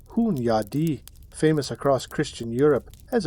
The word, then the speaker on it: Hunyadi: Hungarian lord and general named John Hunyadi, pronounced roughly Hunyadi, famous across Christian Europe as a relentless enemy of the Ottomans.